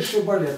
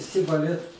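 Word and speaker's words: шибболет: И когда их, им наступило время переходить в мост, они сказали, говорят, скажи шибалет, они говорят, сибалет.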